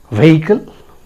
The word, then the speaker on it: vehicle: Friends, the word is spelled as V-E-H-I-C-L-E. Very common word, right? It can be anything. A car, a truck, a bus, right? So how do you pronounce it? Vehicle?